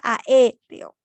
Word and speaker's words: aéreo: Por ejemplo, la palabra aéreo, ¿no? ¿Dónde está el mayor golpe de voz? En la sílaba E.